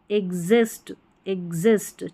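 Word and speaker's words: exist: लेकिन कुछ स्पेलिंग्स में, कई शब्दों में शुरुआत में एक्स को आधा ग और ज पढ़ा जाता है। जैसे यहाँ पर देखिए एग्ज़ाम, यहाँ पर है एग्जैक्ट और ये है एग्जिस्ट, ठीक है, इस तरीके से।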